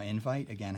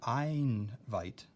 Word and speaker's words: invite: Now invite, again, has two I's. It's not einvite, so that's not a long I.